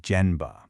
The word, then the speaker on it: Gemba: It's called GMBA. You pronounce it jmba.